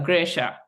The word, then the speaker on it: Gresshaa: this is kind of how you say my name if you want to try it's G as then you're gripping something and then sha as then sh so graa um and all my